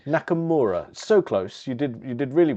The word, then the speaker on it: Nakamura: Nakamura.